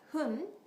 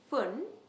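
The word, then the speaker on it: ふん: second one is poon by the way for whom I didn't write fu n because I didn't want you to get confused with the English word fun also I don't want you to pronounce like fun since in Japanese we don't have F sound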